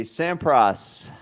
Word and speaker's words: Sampras: You said Sam Prass. Sorry. It's Pete Sampras, for Christ's sake.